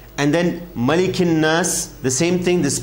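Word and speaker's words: ناس: and not raheem this is a letter that comes out from your nose you got to take in your nose the vibration should you should feel the vibrations in your nose that's the right pronunciation of the word nas here if you can feel the vibrations your nose is right absolutely right so let's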